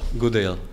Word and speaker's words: Gudejl: Tako da sam došao na Oksford i imam priliku da pričam sa profesorom Markom Gudejlom sa, is that the right pronunciation? Gudejl. Gudejl, ok.